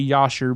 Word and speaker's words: Jasher: Now, some people say Yasher because J in Hebrew is not pronounced with the J, it's pronounced with the Yah. But I'm from Texas, I pronounce it Jasher.